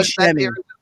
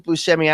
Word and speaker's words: Buscemi: Steve Oh, Buscemi. That's not. Steve Yeah, that's Buscemi. Steve Buscemi. People tell me I look like Steve Buscemi.